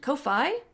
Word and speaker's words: Ko-fi: If you want to support the podcast, it's Mighty Mur over at Patreon and Ko-Fi, which people have told me is the proper way to say it.